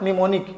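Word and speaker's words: mnemonic: यहां देखो am silent है। एम साइलेंट है तो क्या हो जाएगा? निमोनिक।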